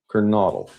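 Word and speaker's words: Kernodle: Kernodal, I believe, is how you say it.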